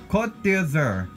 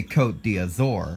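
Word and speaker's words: Côte d'Azur: like you see it here's one that I've always said a little differently that's changed through the years caught dizzer it's actually it's French for the azure coast but as we can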